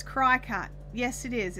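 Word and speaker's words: Cricut: camp with us lisa if it was to be pronounced cricket then it would have a k in it kim scott snyder's like like jiminy yes exactly like jiminy cricket it's cry-ca it's spelled cri c-u-t cracker but they're mascot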